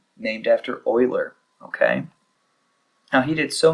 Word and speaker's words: Euler: to do okay so Euler notice it it's not said the same way that it's spelled it looks like Euler but I believe he was Swiss and so it's just pronounced a little bit different he also helped Pioneer